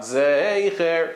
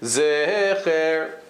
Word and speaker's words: Zecher: So they testified that he said Zecher, because the Vilna Gaon said something along the lines of Zecher, something like that. Not Zeicher, he said Zecher.